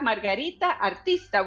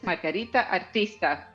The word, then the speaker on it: Margarita Artista: I'm saying your name in full Spanish here. We are so honored to have Margarita Artista with us.